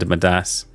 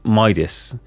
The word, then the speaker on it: Midas: just quickly find was the heart Modas hand madas um I'll keep saying with Das I I pronounced it incorrectly is Midas um but like yeah I I do pronounce